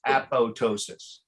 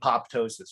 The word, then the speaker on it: apoptosis: going to correct you the second p is actually silent yeah so so uh a-p-t-o-s-i-s it's a ptosis so the psi says apoptosis okay i even hear scientists say apoptosis but the second p